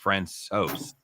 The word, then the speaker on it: Francouz: Apparently, after talking to the guys in Denver, it's Francouz. Okay, I did not know that.